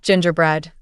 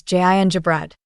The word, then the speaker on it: gingerbread: It's not gingerbread. The correct pronunciation is gingerbread. The stress is on the first part, gin.